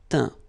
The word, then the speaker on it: teint: Okay, as usual, final T not pronounced. Atteint, éteint. Fin, peint, teint.